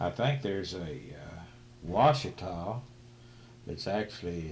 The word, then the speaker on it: Ouachita: because we have washita wichita right like it's pronounced oh washita then we have ouachita wichita and i don't know what else yeah